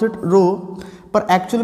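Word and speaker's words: rho: इसको हम पढ़ते हैं, इसको हम प्रोनाउंस क्या करते हैं, वी प्रोनाउंस इट रो।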